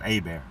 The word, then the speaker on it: Eber: A and we say it's pronounced Abear.